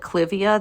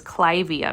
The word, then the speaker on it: Clivia: have a Clivia miniata, people call it Clivia. That's wrong. This is one I do know how to pronounce. So it's Clivia miniata, because it's named after Lady Clive. It can't be named after Lady Clive and be called Clivia. That's not what it is.